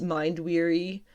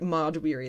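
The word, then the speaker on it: Mahd Wy'ry: Thena developed Mind Weary, which I'm pretty sure I just pronounced right. Mod Weary, that's right, that's what it was.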